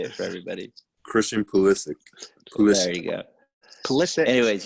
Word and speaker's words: Pulisic: Christian Pulisic.